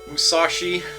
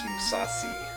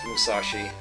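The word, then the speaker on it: Musashi: You need to know a little something about Japanese pronunciation there to know that there's supposed to be usually when this is transliterated, you you would see an H between the S and the I. But yes, this is indeed supposed to be Mousashi.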